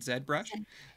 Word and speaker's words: ZBrush: whenever we're looking at that's the Canadian pronunciation right said brush yeah I feel I'm